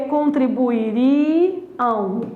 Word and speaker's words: contribuiriam: A alternativa é a letra B, porque é contribuiriam. A sílaba tônica é o ri. Não confunda com contribuíram. Contribuíram passado, ó, olha só a diferença. Eles contribuíram, tem que ter acento. Eles contribuiriam, a sílaba é o ri, não precisa ter acento.